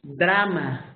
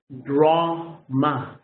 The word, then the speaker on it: drama: For example, you can say drama. It's in Spanish is drama, right? But in English, if you use this pronunciation, it's drama.